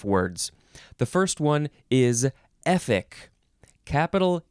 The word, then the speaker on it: Efik: the first one is epic capital e f i k it is uh spelled exactly like it is pronounced epic noun from 1849